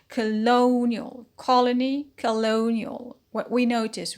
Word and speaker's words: colonial: line rule ial suffix it becomes a colonial so stress on the peanut as usual colonial colony colonial what we